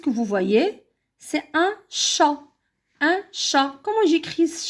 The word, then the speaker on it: chat: image qu'est ce que vous voyez c'est un chat un chat comme j'écris ce chant et à